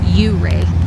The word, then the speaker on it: Ouray: gifted with beautiful uray a local told me that's how they say it is uray not uray in the